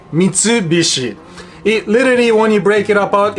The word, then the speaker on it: Mitsubishi: of course Mitsubishi in Japanese law we say Mitsubishi it literally only breaking apart into three parts